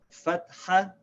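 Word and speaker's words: فَتْحَة: name one is called fat hat so we write this as FA T - H a because want to make sure we don't pronounce the T and H together it's not fat it's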